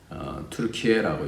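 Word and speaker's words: Türkiye: 요즘 그 터키에 있는 투르키에라고 요즘 또 그렇게 발음을 하죠.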